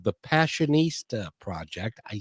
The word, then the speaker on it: Passionistas: And they have a project called the Passionistas Project.